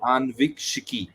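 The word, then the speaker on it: Aanvikshiki: shiki right so uh let me help you pronounce it let's say uh let's break the word anviks into two words uh see the first word is anu uh someone who is curious to know something right so and let's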